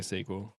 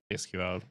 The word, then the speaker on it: SQL: about what about sequel how do you say sequel I normally say sequel not yes come on you might say SQL ah depends who you're